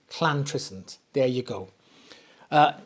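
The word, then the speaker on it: Llantrisant: So if you're not from Wales, you pronounce two L's like a Okay, don't spit on anybody. Right. So it's not Lantry, it's Clantresent.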